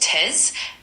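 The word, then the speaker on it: treize: In French number 13 is pronounced tez. Uh it sounds like te.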